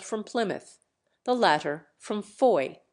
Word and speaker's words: Fowey: The former hailed from Plymouth, the latter from Foy, or, as we spell it nowadays, Fowey.